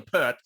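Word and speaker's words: Peart: the drummer he says neil pierre or neil pert i know he mispronounces it yeah yeah he says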